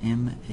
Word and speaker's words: Mazama: M-A-Z, how do you pronounce it? M-A-Z-A-M-A, Mazama.